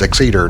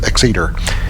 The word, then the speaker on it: Exeter: is finally kicked in i think it's pronounced exceeder not x exit or whatever crap i said just a minute ago but it's exceeder and we're here in